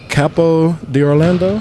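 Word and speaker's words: Capo d'Orlando: Am I saying it right? Capo di Orlando? Yeah.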